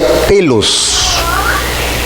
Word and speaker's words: telos: La palabra para fin es una palabra griega que se llama o que se pronuncia telos.